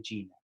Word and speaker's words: Qin: pero quedó la dinastía chin como su apellido cu y n que se pronuncia como una c h entonces de segundo punto